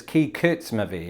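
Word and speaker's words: Kykotsmovi: we've got two here high cuts movie keycards movie they're different which one's right all right wikipedia says that it's key kurtz movie is that i is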